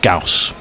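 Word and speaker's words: Gous: and left by uh gaus to rhyme with mouse or house or Lous or grous just going back to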